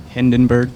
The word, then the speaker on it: Hindenburg: Hindenburg.